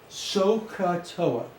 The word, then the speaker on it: SOHCAHTOA: It's called SOHCAHTOA.